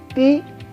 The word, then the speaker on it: types: Kemudian type ini karena Y di bahasa Prancis itu bunyinya adalah I, sama dengan huruf I gitu. Jadi les types, kemudian les types, type karena ini E tanpa adanya aksen, ya.